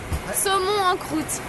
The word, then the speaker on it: saumon en croûte: Okay, how do you pronounce salmon et... En croûte. Saumon en croûte.